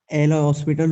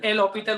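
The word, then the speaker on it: L'Hôpital: वैसे उसका सही वर्जन एल हॉस्पिटल होता है, बच्चे सब उसको एल हॉस्पिटल कहते हैं, उसमें एच साइलेंट होता है।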